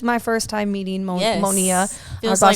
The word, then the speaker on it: Monia: or i'm sorry they yeah they'll think the i is silent or they'll add a c and say monica oh you're like no